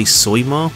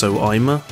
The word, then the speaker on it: Soima: I know it looks like you say Soima, but it's pronounced Soima, because he used to call himself Soima Freak online.